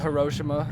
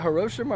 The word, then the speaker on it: Hiroshima: whoops sorry experiment time is it Hiroshima or Hiroshima cuz I always grew up here in Hiroshima but then I heard Hiroshima was actually the correct pronunciation I think whoever was